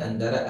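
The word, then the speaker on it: أنتَ: a Anta atau aanti bagaimana kita membedakan antara aantta dan aanti kita membedakannya dengan kita melihat kalimat setelahnya Siapa yang diajak berbicara jika kita lihat di sini yang diajak berbicara adalah Aki ya Aki Aki artinya saudara laki-lakiku saudaraku jadi kita baca bahwasanya ini adalah Anta bukan an ak dan Muh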